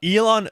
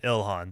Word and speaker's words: Ilhan: Uh Elon or Elon, no, is that her name? Oh, El Ilhan. Ilhan, that's the way you pronounce it.